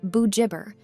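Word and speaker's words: Bugibba: Paul's Bay, and Bogiba, pronounced Bujibber, are also popular with foreign visitors.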